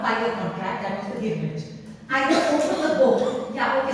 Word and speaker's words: girmit: So the contract was called an agreement, but since they couldn't pronounce the word agreement, they used to call it girmit. Girmit, and therefore the literature of the of the Girmit is written in Girmitia.